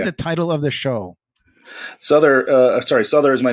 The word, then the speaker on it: Sother: So for those who are listening, you pronounce Sother like utter with an S at the front of it. So Sother, what is the title of the show? Sother is my name.